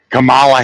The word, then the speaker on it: Kamala: is so weird now Kamala and Kamala spelled the same way just pronounced differently Camala Harris James Harris as